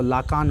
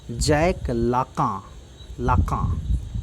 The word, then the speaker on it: Lacan: जैक लाका, इसको Jacques मत पढ़िएगा, उसको लाकान मत पढ़िएगा, ठीक है। जैक पढ़ा जाता है इसको, जैक लाका, ठीक है।